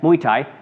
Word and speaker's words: Muay Thai: It looks like Muay Thai. Thai, like Thailand. Yeah, Thailand. Muay Thai. Yeah, Muay Thai.